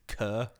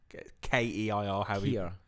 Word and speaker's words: Keir: It's Kerr. No, it's not. Keir. Keir. Keir. Keir. Keir. That's what I know. I pronounce that as Kerr. Kerr. No, it's Keir. Keir. It's very Scottish.